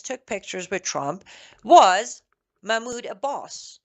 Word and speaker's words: Mahmoud Abbas: pictures with Trump, was Mahmoud Abbas, or better pronounced Mahmoud Abbas, the so-called leader of Palestine.